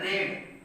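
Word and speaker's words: read: तो तीसरा रूप पर रीड का होता है रेड, स्पेलिंग वही होता है बट इसको पढ़ते हैं रेड।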